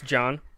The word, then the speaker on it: Jean: convince his billionaire grandfather jean paul Getty to pay the ransom this is John Paul it says Jean Paul that's what I thought too big is Jean je Ann yes pronounce John okay well like that regard